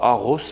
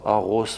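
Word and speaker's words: Aarhus: Et puis euh je m'imagine arriver entre le 10 et le 15 mai à Aros parce que ça se prononce comme ça, Aros au Danemark.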